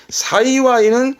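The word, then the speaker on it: 幸い: 사이와이는 말 그대로 다행이다. 다행의 행을 사이와이. 잊지 마세요. 행복의 행은 시아와세, 다행의 행은 사이와이. 그러면 그렇죠.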